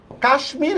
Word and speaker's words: কাশ্মীর: যেমন দেখো এইযে কাশ্মীর কাশ্মীর শব্দের মধ্যে দেখো আমি হচ্ছে ম এর উচ্চারণ করি অথচ আবার দেখো গ্রীষ্ম